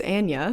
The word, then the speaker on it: Anya: Sidebar, I guess I've been saying her name wrong for a really long time. It's Anya.